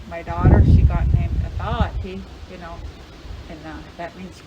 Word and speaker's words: Aaniiih: I said, that ain't how you say it. It's Aaniiih, like that. Aaniiih, like that.